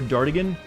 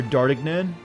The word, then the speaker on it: Dartigan: feel creepy yet welcomed it's not pronounced dart again uh no it's you know the french name is pronounced dark kenyan uh but i didn't know how to say that pronounced uh correctly when i was like writing a character for a web series so i just said dart i think i would say either dart again or dartik nan because that's how it